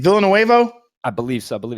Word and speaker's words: Villeneuve: i'm so how do you say his name villanuevo i believe so i believe it's denis villeneuve where's he from where is denny from denny